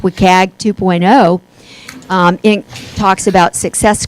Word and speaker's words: WCAG: content accessibility guidelines and that's pronounced wicag 2.0 it talks about